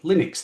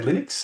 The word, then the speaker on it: Linux: A lot of people say Linux because they pronounce it Linus, but my preference, he pronounces it Linus, therefore I say Linux.